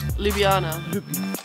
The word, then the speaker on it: Ljubljana: Ljubljana.